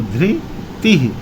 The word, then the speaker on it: धृति: देखिए नीचे वाला रा लगा है, इसका उच्चारण री से होता है, तो धृति।